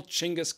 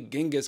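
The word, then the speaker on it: Chinggis: and assumed the title chingus Khan now maybe you've heard of him under a different name namely Genghis Khan but we say chingus now for two reasons first it's funner to say chingus chingas I'm just having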